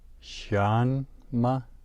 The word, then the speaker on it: 什么: Shanma. Notice the rising tone on the first syllable, shan, and then the neutral tone on ma.